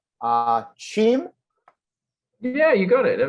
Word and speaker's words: Cheam: Now I'm going to try to pronounce this correctly. Uh, Chim. Yeah, you got it. That was good. Good job. Okay, there you go. Uh, I was I was between that and Keem and I wasn't totally sure, but uh, so